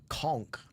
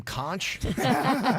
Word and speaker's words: conch: Somebody said a true Fidian also knows how to pronounce conchk conchk. Do uh people who are not fidians go can I have some kunchch?